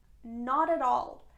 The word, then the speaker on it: not at all: Not at all. It's another way of saying no. Here the pronunciation is important. We don't pronounce t sound, it becomes d sound in both cases.